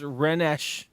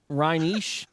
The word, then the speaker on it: Rhenish: No, I think I'm saying it wrong. Rhenish. Fill up water that is Rhenish.